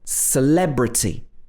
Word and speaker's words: celebrity: this vowel sound so in this word celebrity we are stressing the le sound so this is an e sound but the first e is not stressed so it's again two different letter e's but pronounced in different ways even in the same words i know it's very